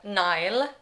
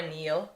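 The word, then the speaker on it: Niall: oh, okay, so Aurora, Nile, or Neil, we say that differently. I say Neil because that's how they say it in the audiobook. Yeah, and I say Nile because of the way that I speak.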